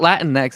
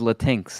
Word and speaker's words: Latinx: you're an idiot like it's not Latin next it's latinx okay pronounce it right oh latinx I'm